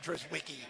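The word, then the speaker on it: Drizwicke: That's how it's spelled phonetically. And that's what I will call him. Dris Wiki.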